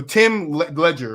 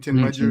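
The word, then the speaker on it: Tim Legler: So Tim Ledger, right? That's how you say his name, Tim Ledger.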